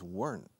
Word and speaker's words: weren't: Otra vez la pronunciación de weren't is weren't. Es una sola sílaba.